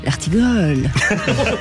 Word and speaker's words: Dartigolle: Ce qui ravit notre Olivier d'Artigol. C'est bien ça aussi, comme prononciation. Les vraies voix Sud Radio, 17h-20h, Philippe David, Cécile de Ménibus.